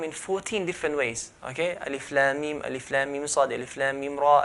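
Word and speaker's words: الم: We don't recite the word. For example, there's alif, lam, mim. We don't pronounce the word alam, but we pronounce the names of the letters. So alif, lam, mim. When there's ha in the mim, we don't say ham, but ha, mim, and so on.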